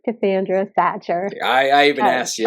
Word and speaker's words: Sachar: name two out of three are hard to pronounce so I'm always correcting people and letting them know hey it's it's Cassandra satcher I I even asked you and I still